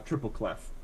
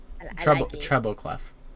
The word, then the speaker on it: treble clef: really big Angry uh triple cleff yeah treble cleff thank you it's been a while